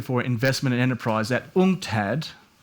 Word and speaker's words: UNCTAD: He is the Senior Director for Investment and Enterprise at UNCTAD. Is that how you say it? Oh, that's how I say it. UNCTAD, yes.